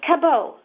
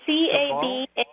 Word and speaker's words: Cabaud: It's Cabaud. It's a French name. So it's Cabaud.